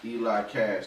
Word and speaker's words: EliXCash: i just seen that my name is pronounced eli cash the x is silent when you look it